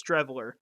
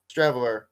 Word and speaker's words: Streveler: How do you pronounce that? Chris Streveler. Streveler.